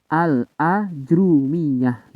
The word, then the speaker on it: الآجرومية: ini lafadz ini bisa dibaca dengan fathah Hamzah kemudian dengan mendomokan huruf Jim dengan diberikan tasjid pada huruf Ro Jadi RO nya didomakan dan dikasih tasjid jimnya didomakan kemudian fathah pada Alif itu cara membacanya yang pertama waljari dan ada pula ya yang mereka itu berpendapat cara membacanya berdasarkan beberapa dialek diantaranya adalah memfathahkan Hamzah kemudian mensukunkan Jim dan roknya didommahkan tetapi tidak diberikan tasjid yakni menjadi al-ajrumiyah gitu Jadi yang pertama ada